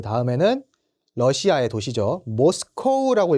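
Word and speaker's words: Moscow: 모스코우라고 읽어주시면 됩니다. 러시아 분들은 요거를 모스크바라고 읽어주시지만 저희는 모스코우라고 읽어주셔야 돼요. 모스코우.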